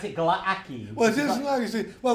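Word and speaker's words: Glaaki: How do you pronounce it? Glaki.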